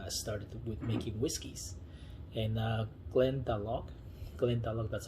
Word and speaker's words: Glendalough: Many people say Irish are the first ones that they started with making whiskeys, and Glendalough, that's how you say it.